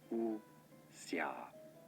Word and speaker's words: wuxia: The pronunciation is as wuxia. Wuxia. Wu as in W-H. Wuxia.